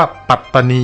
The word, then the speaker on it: ปัตตานี: กัน ตาม ตำนาน นี้ ก็ จะ ต้อง ออก เสียง ว่า ปัตตานี อย่าง เดียว เท่า นั้น จาก หลัก ฐาน ข้อ